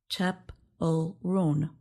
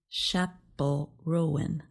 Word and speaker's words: Chappell Roan: The list says her name is pronounced Chappell Roan, not Chappell Rowan.